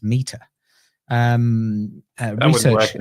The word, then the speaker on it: METR: It's a research paper done by the Meter, METR, pronounced Meter.